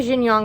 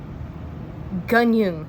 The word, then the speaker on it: Jin Yong: Hero Born by, okay, I would say Jin Yong, but I just looked it up, and I think it's actually Gunyung is how you say it, and he's been a